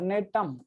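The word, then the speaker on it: Gnetum: और ये जो है नेटोप्सिडा, इसका बेस्ट एग्जांपल है दोस्तों नेटम, जी साइलेंट हियर, नेटम।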